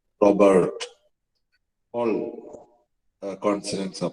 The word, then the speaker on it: Robert: Robert, R-U-B-E-R-T. Both the R and the T are silent in French.